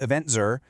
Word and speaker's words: Eventz: Welcome to Eventful Saudi Arabia, part of the Eventful World 2026 series by Eventz, pronounced EventZur, covering 249 destinations where live events define the travel experience.